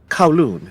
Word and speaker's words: Kowloon: how did you pronounce the name of this city kowloon it's a part of hong kong and the